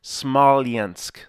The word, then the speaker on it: Smolensk: it's in Western Russia I looked up the pronunciation I'll only get it right once because I just did it smalliansk Somalians but I can't say that in Philly we say Smolensk that watch in Philly is worth 50 dollars so I'm sorry at least I pronounced it correctly once we'll do not milk